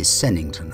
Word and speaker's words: Sevenhampton: to church in the village of seven hampton pronounced locally sennington i understand where we